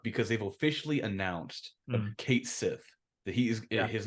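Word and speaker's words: Cait Sith: Oh, we we bring it up because they've officially announced that Kate Sith that he is his name he's and his name is pronounced Kate Sith, not Cat Shei or any of that stuff.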